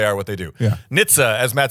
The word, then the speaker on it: NHTSA: So that's NHTSA, and it's pronounced NHTSA.